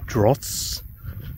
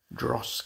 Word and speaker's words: Droß: I will pronounce it wrong. I want to say Dross because of the B in it.